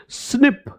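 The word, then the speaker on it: SNP: एसएनपी नहीं बोला जाता है। तो पता है लोग क्या बोलते हैं? प्रोनन्सिएट करते हैं इसको स्निप।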